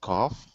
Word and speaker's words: cough: But you're right, we have cough, like an ah sound, and then rough, tough, and enough.